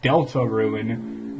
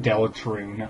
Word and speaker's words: Deltarune: and welcome back to Delta ruin not delicate room I've been saying it wrong this whole damn time god that music is